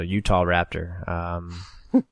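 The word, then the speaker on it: Utahraptor: And no lie, it's spelled Utah like the state, so Utah Raptor.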